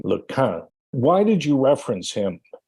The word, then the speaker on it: LeCun: He corrected my pronunciation of his name, LeCun.